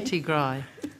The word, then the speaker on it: Tigrai: Tigrai. We're the only ones who pronounce it that way Tigray.